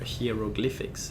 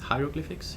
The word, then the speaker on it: hieroglyphics: We'll force you to pay attention to the the direction of those, uh, heroglyphics." Hieroglyphics.